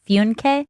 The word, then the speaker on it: Funke: I pronounce it Funke.